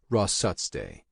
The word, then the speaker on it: Rosse: He pronounced it Ross day.